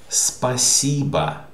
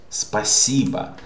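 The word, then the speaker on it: спасибо: you by the way thank you is spasiba this is stressed spasiba thank you how are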